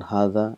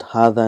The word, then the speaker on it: هذا: So we've learned that hadha and zalika is one of those words where it is pronounced but it is not written.